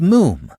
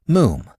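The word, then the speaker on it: Moffam: I told you father it's moom. It's spelled m o ff a m but pronounced moom to rhyme said Archie helpfully with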